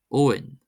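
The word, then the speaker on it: Eoin: And we have Owen.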